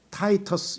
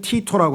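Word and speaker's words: Titus: 역사를 살펴보면 이 백성은 로마였고 로마가 타이터스, 영어로는 타이터스라고 하고요. 또 그 라틴어로 하면 티토라고 하고요. 티토라고도 발음하고 영어로 하면 타이터스라고도 하고 하는 이름을 가진 로마의 장수가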